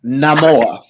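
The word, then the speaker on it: Namor: draw no no no no no no it's Nam more more what the hell no more no more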